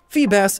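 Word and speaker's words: Feebas: bit much more creative phoebus is assumed to be a bass and it transforms into a beautiful serpentine sea dragon fun fact phoebus's name phonetically is the same as Phoebus which means shining one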